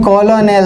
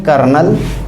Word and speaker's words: colonel: लिखते हैं कॉलोनेल, COLONEL, पढ़ते हैं कर्नल।